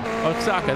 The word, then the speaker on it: Oaxaca: Anigo Roche, as we know, sponsored by Renault Oaxaca. I can't even pronounce that. I tried it all morning, Alvin. Oaxaca, that's it.